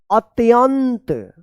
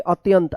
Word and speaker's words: अत्यंत: उसका स्वभाव अत्यंत विनम्र देखिए यहां पे अत्यंत आधा त य के ऊपर बिंदी है तो अत्यंत विनम्र म में देखिए